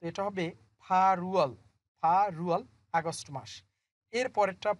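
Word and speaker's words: 팔월: এর পরেরটা পরিবর্তন হবে, দেখেন রিউল বাসিমের পর সামনে ইউং আছে, তো এটা হবে ফারুয়াল, ফারুয়াল, আগস্ট মাস।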